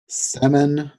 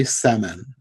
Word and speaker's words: Semon: how to pronounce this it looks like seron except there's no R so semon Larry semon okay yeah so